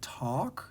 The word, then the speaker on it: talk: It's called the yolk, and it has this silent L, kind of like walk has a silent L, or talk has a silent L.